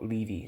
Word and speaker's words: Levi: of Paul Levy um I've been calling them Levy for a while but when I look just typed in Google Translate uh this is what it told me how it told me to pronounce po leevy is that made it sound po Ley po Ley po leevy so here we go